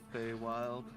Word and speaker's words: Feywild: Feywild.